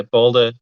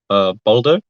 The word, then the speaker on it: Baldur: Baldur. Mm-hmm. So it's Aldo, was it? Baldur. So it's like a U and an R that's rolled together.